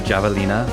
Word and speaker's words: javelina: Like the javelina, also known as the peccary, I think or the they're skunk usually pig. called javelinas, Javelina. like the Spanish pronunciation.